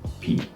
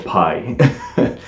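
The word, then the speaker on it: π: and it is givenchy p or pi but uh in french and also in portuguese this symbol it's p although i know it's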